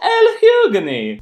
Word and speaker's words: Lhugueny: Yes, that is how you pronounce his name. LHUGUENY!